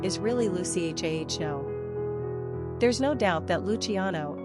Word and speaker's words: Luciano: Giovanni Leonardo or Orlando American English speakers also often pronounce Luciano with four syllables Lucy agiano when the authentic Italian pronunciation is really Lucy h a h o there's no doubt that